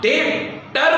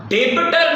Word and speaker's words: debtor: बेटा, संजय अजय का डेटर बनता है। द वर्ड डेबिटर नहीं, DEBTOR, इट्स not that डेबिटर, B silent है।